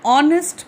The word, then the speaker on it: honest: An honest man, H is again silent.